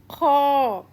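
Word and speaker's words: خ: Here comes Kha. Kha is heavy letters. And how to pronounce it? The way we pronounce orange. Orange. So same way we will pronounce Kha. Okay? Kha.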